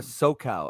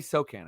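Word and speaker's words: Sochan: about was Jeremy uh SoCal uh or social oh my God I messed this up so many times cos uh s-o-c-h-a-n Jeremy so can I'm gonna say wow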